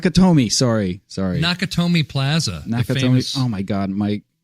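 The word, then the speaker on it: Nakatomi: of Nick and we're rebuilding look at that nakamori how do you say that not naka Tomi not kotomi sorry sorry naka Tomi Plaza oh my god Mike alright site we're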